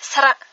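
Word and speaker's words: ស្រៈ: Ça, c'est pour dire vite, et sinon si on veut le dire, la vraie prononciation c'est sera, ça veut dire voyelle.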